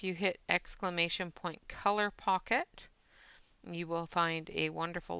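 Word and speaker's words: Pockit: And it's pocket, not pocket. So it's K-I-T, not K-E-T. Color pocket. Like a kit.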